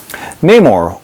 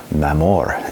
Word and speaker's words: Namor: Neymar, or Namor, as he pronounced his name, was adapted for the